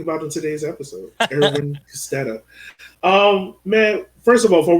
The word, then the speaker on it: Kostedde: Edwin Kostedde. Okay. And that's who we're talking about in today's episode, Edwin Kostedde.